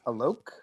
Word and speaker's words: Alok: Just for the record, it's Alok. It rhymes. Oh, okay. It rhymes with joke or smoke.